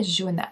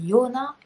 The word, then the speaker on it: Jona: de bien le prononcer, c'est pas Jona, c'est Jona, puisque c'est on était en Suisse alémanique, donc ça parlait allemand.